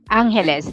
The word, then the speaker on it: Angeles: the way it's pronounced Angeles New Year's Eve and tondo yeah yeah we pronounce like a Spanish word Angeles letter G we make